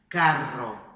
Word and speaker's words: carro: Caro, caro, caro, caro, caro, carro, força, carro, carro, viu? É só fazer o mesmo som, que a gente já está acostumado, e fazer ele um pouquinho mais forte.